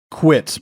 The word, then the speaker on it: Kwiet: Quit, but it's spelled Kwiet. It's spelled quiet.